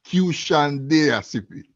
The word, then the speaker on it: Qshan Deya: cpu learning from there to pronounce q shandia i like the word asia nation put a q before i get